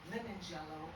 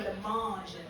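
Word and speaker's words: Lemonjello: One says lemon jello, and the other one says orange jello. And I said, really? She said, no, it's not pronounced like that. It's orangelo and lemangelo.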